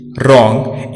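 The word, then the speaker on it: wrong: W silent रहता है जब यह वर्ड के आरंभ में हो और इसके तुरंत बाद आर आए। राइट, रिस्ट, रॉन्ग, इन सभी शब्दों में डब्ल्यू साइलेंट है क्योंकि वर्ड डब्ल्यू से शुरू हुआ है और इसके ठीक बाद आर का प्रयोग हुआ है।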